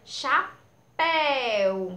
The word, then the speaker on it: chapéu: aulas falei que sempre aquela sílabazinha que tem um acento, ou o acento circunflexo, ou o acento agudo, essa sílabazinha da palavra será a sílaba tônica, pois ela é a sílaba que ela é pronunciada com mais força, é aquela sílaba mais forte.